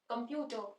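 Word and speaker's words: computer: है क अ म स्ट्रेस प्यू पे आ रहा है पर साउंड के ऊपर स्ट्रेस आ रहा है तो जो कम है हमने इसको बहुत आराम से प्रोनाउंस करना है कंप्यूटर देखो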